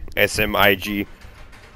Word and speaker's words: smig: The smig, S-M-I-G, pronounced smig.